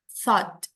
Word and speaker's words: thought: terus Kak dibanding-bandingin aja tapi intinya adalah kalau ada th itu dia bacanya bukan t jelas dia pas ada airnya ada eh udaranya karena dia di belakang gigi through THR Thank you